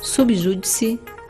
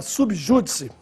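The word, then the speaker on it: sub judice: Já a forma subjúdice, esta é uma forma latina e se escreve, sempre há registro, sub separado de júdice e sem acento, embora a pronúncia seja de proparoxítona.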